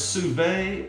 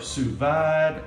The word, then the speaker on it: sous vide: So they came out with this, and I'm gonna mispronounce this because let's face it, I'm a Texas boy from East Texas with the Southern slang. But it's Sous Vide or Sous Vide or Sous Vide.